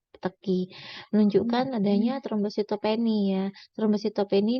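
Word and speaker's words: petechiae: Kemudian ada peteki ya, bacanya ya tulisannya peteki ya tulisannya ya, tapi bacanya peteki.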